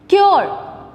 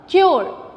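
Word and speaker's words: cure: Number 1, क्योर, are sound बहुत कम, क्योर.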